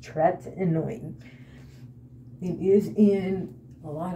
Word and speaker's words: tretinoin: the tretinoin burn and the way you pronounced tretman is tretinoin that is how it is pronounced Tourette annoying it is in a